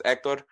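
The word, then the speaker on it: Héctor: But yes, the proper pronunciation of my name is ectctor. Um there the accent mark is on the e. Um so yes, the h I guess in some sense the h is silent.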